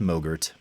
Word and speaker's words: MOGRT: sudden craving for yogurt because it rhymes with mo Gert I know the feeling